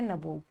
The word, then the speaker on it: nabob: Okay, N anglicised version of the Indian word नवाब। Anglicised मतलब अंग्रेजों ने इसमें थोड़ा मॉडिफिकेशन कर दिया प्रोनाउंसिएशन वगैरह में, और नवाब को उन्होंने बना दिया चेंज करके नबूब।